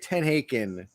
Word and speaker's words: TenHaken: I don't even know how to pronounce his name. Paul Tenkin or something. Tenhaken, I think. Tenhaken, that's right. Tenhaken.